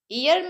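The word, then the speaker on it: heir: मी हियर मी्स Boris इयर means Boris यहां पे H silent होता है रिलेटिव मींस संबंधी रिलेटिव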